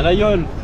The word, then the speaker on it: Laguiole: À la Yole. Nice, il a bien prononcé.